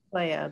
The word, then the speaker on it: Clea: called me claire or she thought it was pronounced clea but my but a close friend of ours or vidal um told her that it wasn't pronounced clea it was pronounced playa because he's pronounced in latin so when i was